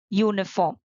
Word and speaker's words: uniform: so it is a uniform you see though it begins with a vowel letter the sound is of a consonant the consonant sound of u y o u he gave me a